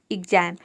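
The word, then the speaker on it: exam: तो यहां पे देखिए एक्स को हम आधा ग और ज प्रोनाउंस करेंगे ए का हो जाएगा आई एम का हो जाएगा म ये हो जाएगा एग्जाम एग्जाम का मतलब होता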